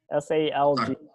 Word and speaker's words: salg: SALG.